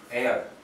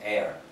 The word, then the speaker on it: heir: 그냥 유산을 할 때는 이건 에어로 발음해요. 이렇게 발음해요. 여러분 발음 기호 혹시 읽을 줄 아세요? 그냥 무시하세요. air 이렇게 발음해요. air. H가 묵음이에요. 이때는 air.